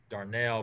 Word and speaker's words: Darnell: It's pronounced Darnell, but it's spelled as if it would be pronounced Darnall.